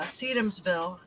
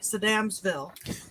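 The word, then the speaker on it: Sedamsville: uh experience with uh sedumsville or synapse bill sorry saddamsville we know how it's pronounced now we just need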